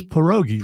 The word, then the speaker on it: pierogies: It's pierogies. Pierogies. I don't. They pronounce it in Men in Black 1.